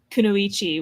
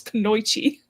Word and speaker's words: Kunoichi: And like the word Kunoichi which is a female ninja. More than one person has pronounced it as Konoyi.